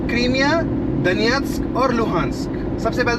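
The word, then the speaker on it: Донецьк: वो दनियस या दनेत्स्क ऐसे कुछ भी बोल देते हैं, वो नहीं है, एक्चुअल प्रोनाउंसिएशन है उस शब्द का दनियत्स्क, ये उसका एक्चुअल प्रोनाउंसिएशन है, जो सही प्रोनाउंसिएशन है।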